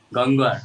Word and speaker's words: Gangwar: Gangwar. Yes, Gangwar. You're not able to pronounce the sound ver, right?